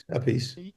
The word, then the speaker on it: Appice: So you do the first book, and Carmine Appice, depending what brother you're talking to on the pronunciation. A piece.